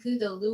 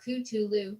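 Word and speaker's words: Cthulhu: sigal speaking of names you can pronounce the name Kulu or culu depending on how much of an influence the Simon book may have had on you or on how much Lovecraft research you've done he changes his mind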